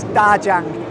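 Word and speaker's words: 大疆: cette marque derrière moi DJI ou comme on le prononce en chinois Dajiang Ils sont l'un des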